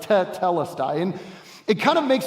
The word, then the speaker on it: tetelestai: When a verb is a perfect verb, it adds a syllable sort of at the beginning, doubling the first consonant and vowel. So that's why it's tetelestai.